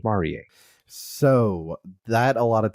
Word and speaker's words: Marie: bad the big bad it's spelled Marie yep yes but they say Maria so that a lot